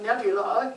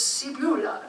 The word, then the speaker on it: Sebula: He and I had a long talk, and then he sent me a little voicemail that said, "My name is not Nebula, it's Sebula." So we can say it right.